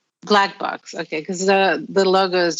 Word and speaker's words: BLCK: Do you pronounce it Black Bee, or it's? No, it's called Black Box. Black Box, okay, because the logo is just BLCK.